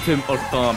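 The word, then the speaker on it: Tim Hortons: No, it's a Tim or Tom. I forgot. Oh yeah, H is silent in French.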